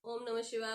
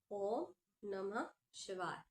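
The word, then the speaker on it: ॐ नमः शिवाय: उसका काउंट गुरु रख रहे हैं क्योंकि आपके उच्चारण मानो आप जब कर रहे हो माला में ओम नमः शिवाय ओ नमः शिवाय ओ नम शिवाय नमः शिवाय ओम नमः शिवाय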